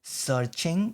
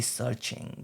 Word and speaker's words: SearXNG: It's actually pronounced as searching. The SearXNG is called as, the X is just the short form for searching in between.